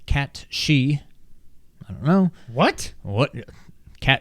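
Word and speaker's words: Cait Sith: always thought was called Kate Sith cait s-i-t-h but apparently it's pronounced cat she I don't know what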